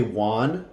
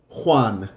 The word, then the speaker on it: Juan: So normally when we say the word in English, we say Juan, it sounds like a W. But the real sound for the J in Spanish it's a blowing out in the top of your throat. Juan, Jose. It's a h. So it's a more throat sound of an H, not in just the mouth.